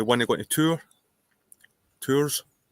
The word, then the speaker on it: Tours: And we want to go to tour Tours. It's spelled like Tours, but I think it's called tour. I think the S is silent.